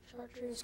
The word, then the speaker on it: chartreuse: a word that went from Latin to French chartreuse can you use it in a sentence Elsie